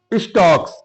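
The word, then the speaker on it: stalks: स्टक्स एस टी ए एल के एस इसमें L silent है।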